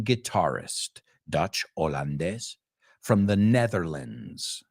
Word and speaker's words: Netherlands: a Dutch American guitarist Dutch hollandes from the Netherlands it's another way of saying Los paises the Netherlands we don't say lands and it's lens the Netherlands and where would you